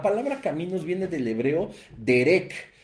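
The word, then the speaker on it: דרך: caminos viene del hebreo derec derec con acento en la segunda e y con k que no significa un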